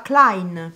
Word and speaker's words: klein: caro anche nelle lettere il secondo dittongo e e che si pronuncia ai einstein chi non ha mai sentito einstein oppure nella parola klein piccolo anche qui si trova